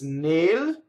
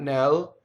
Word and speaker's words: nel: NEL is nail, not nel.